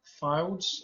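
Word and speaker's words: Fildes: sir samuel luke uh files i think that's how you pronounce his name f-i-l-d-e-s um and uh the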